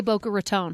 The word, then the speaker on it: Boca Raton: This is how the locals say it. And they say Boca Raton.